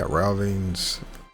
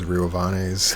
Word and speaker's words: Riovanes: But yeah, Rauvanes, I always called it Rauvanes, I didn't know it was Riovanes, so I mispronounced it all my life, but castle's up here.